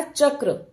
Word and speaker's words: चक्र: में हो रहा था यहां पर बच्चे को रुककर थोड़ा सा यही समझाना है कि चक्र में क के बाद र का उच्चारण करेंगे और जो यह क